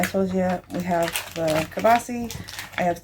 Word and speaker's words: kielbasa: It is a creamy kielbasa and potatoes. Now I say kielbasa because that's how Logan pronounced it when he was little, but it is kielbasa.